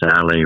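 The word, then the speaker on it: Sale: can take this very unique road called bayou sally road so if you spell that it's s-a-l-e which is like french for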